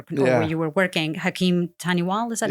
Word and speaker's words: Hakim Taniwal: was under your control, where you were working, Hakim Taniwal, is that how you say his name?